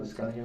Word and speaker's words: Liscano: How do you say it, Liscano?